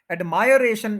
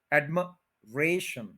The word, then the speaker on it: admiration: एडमायरेशन ये गलत है, admiration, admiration, admiration, admiration, 4 syllables, third के ऊपर स्ट्रेस है, admiration, admiration नहीं।